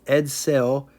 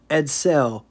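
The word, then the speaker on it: Edsel: I'm going to try to say it right edell anyway for those that don't know Ford had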